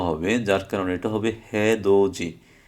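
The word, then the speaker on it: 해돋이: দ্বিগুত দি, দো দে, হে দো দি। কিন্তু এই দ্বিগুতের পরে আসার কারণে এই নিচের দ্বিগুতটার উচ্চারণ জ হবে, যার কারণে এটা হবে হে দো জি, হে দো দি না হয়ে হে দো জি।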